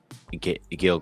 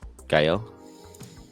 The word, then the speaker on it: Gael: Think about if an older generation of like Nadia's mom is Mexican, and she would know Gail Garcia Bern- Bernal. Is that how you say it? Uh, Gael.